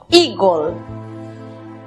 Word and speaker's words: eagle: La primera sílaba, recordemos que la combinación de las vocales EA se pronuncia I. La siguiente sílaba está compuesta por E muda, precedida de L y otra consonante. Matizamos con O, gol, eagle.